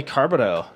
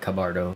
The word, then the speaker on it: Cabardo: uh let's welcome um carbido that's how you say your last name right how do you say it it's uh cabardo cabardo that makes sense i